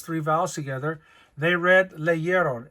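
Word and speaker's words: leyeron: to avoid those three vowels together they read leeron l e y e r o n and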